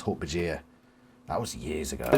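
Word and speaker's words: Hork-Bajir: some horkbajar aliens uh he pronounced it he pronounces it like i used to pronounce it hawk bijaya i used to pronounce him like that and then one of my mates back in primary school told me it was hulk bhajir that was years ago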